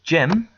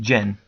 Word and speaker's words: Gem: get my name wrong my name is gem I'm not Jen it's got an m not an N see there's my m